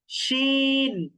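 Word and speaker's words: ش: জিম, শিন, ইয়া, জিম, শিন, ইয়া। শিন উচ্চারণ করার সময় কিন্তু মুখের মধ্যে একটু বাতাস তৈরি হবে, শিন, ইয়া, ইয়া, এরকম।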